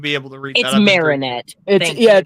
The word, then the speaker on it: Marinette: Alonzo says Christina V voiced as ladybug AKA marionette from holy I'm not going to be able to read that Marinette yeah it's Marinette from miraculous ladybug and Cat